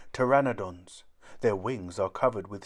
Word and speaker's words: pteranodon: winged and toothless how do you say it pteranodon say pteranodon a pteranodon is bigger than a hand glider